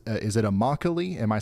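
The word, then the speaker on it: Immokalee: am I saying that right close Ryan it's pronounced imoc an agricultural Hub that's exactly how I said it that's how I said I was right oh my bad Ryan you nailed it then imoc it is it's always good to double check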